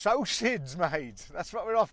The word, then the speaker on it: psocids: There's actually 800 or 900 different types of these psocids, or psocids as you pronounce it.